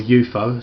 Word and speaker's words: UFO: moon base with a UFO or a eupo some people like to refer to it uh given how that was largely regarded as the pronunciation of the uh object at the time of the program you've got Sky one